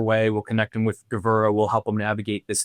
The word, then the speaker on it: Gevura: We'll connect them with Gevura.